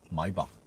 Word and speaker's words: Maybach: Okay, next week it will be the EQS SUV Maybach, 125 kilowatt hour. Do we have any Germans here? Do I pronounce it correctly?